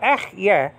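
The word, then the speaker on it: אהיה: And sometimes we say ech, yeah, as English-speaking people, you know, because of the H at the end, which is silent. But, you know, sometimes we pronounce that, but it shouldn't be pronounced.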